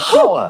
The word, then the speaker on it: hour: Why is there an H? The silent H. Nobody has ever said, "I'll see you in an hour."